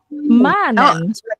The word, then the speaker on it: manen: Manen. Iya. Heeh. Jadinya panjang manen. Karena a-nya cuma ee n-nya cuma satu gitu.